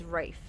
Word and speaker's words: Ralph: go yeah that's it because it's spelled Ralph but you don't say it as Ralph it's Rafe Ray fines um and